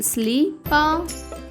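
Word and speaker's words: slip: పదం ఎస్ఎల్ఐపి. ఎస్ఎల్ యొక్క శబ్దం సలా కాకుండా స్లా అవుతుంది. కాబట్టి ఎస్ఎల్ఐ యొక్క శబ్దం అవుతుంది స్లీ, ఎస్ఎల్ఐపి యొక్క ఉచ్చారణ అవుతుంది స్లీ పా, స్లిప్.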